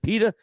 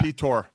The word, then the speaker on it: Pyotr: Is it Peter? Pyotr. No, it's Pyotr.